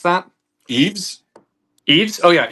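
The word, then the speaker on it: Yves: Um, is it Yav St. Laurent? How do you How do you pronounce that? Eaves. Eaves. Oh, yeah. Eaves.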